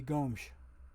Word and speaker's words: Gomes: from watching European soccer, S's in Portugal or in Portuguese language speak are pronounced with that sh at the end. So his correct pronunciation, if you go with his native land's way of speaking, wouldn't be Gomes, it would be Gomes.